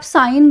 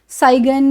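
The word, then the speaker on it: sign: Next आ जाइए, इसमें जी जो आ रहा है ना, इसकी आवाज़ को ना निकालें, चाहे आप साइन बोल रहे हैं, ध्यान दीजिएगा इसको साइन बोला जाएगा, इसको साइगन या सिग्न इस तरह से मत बोलें, ठीक है। इसमें जी साइलेंट है, इसको हम साइन बोलते हैं, ठीक है।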